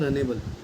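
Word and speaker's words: Runnable: फिर से बोल रहा इसका नाम है रनेबल रनेबल रनेबल रनेबल interface है ठीक है स्पेलिंग मत जाओ आर य double N ए बी नेबल interface है और रनेबल इंटरफेस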